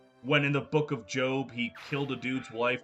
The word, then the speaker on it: Job: Also, why is his name pronounced Job? It's spelled J-O-B. That fucker's name is Job.